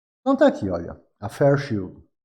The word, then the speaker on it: Fairchild: Então tá aqui, olha, a Fairchild, pronunciando corretamente é Fairchild.